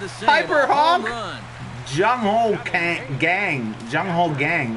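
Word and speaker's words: Jung Ho Kang: Jung Ho Gang. Right. That's how you pronounce his name.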